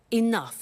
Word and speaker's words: enough: doesn't have enough money now this word enough enough it's written e n o u G H the pronunciation is enough what does it mean let